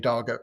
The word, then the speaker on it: Darger: Often pronounced Roger, but it's he insists on Darger, so I'm going with him.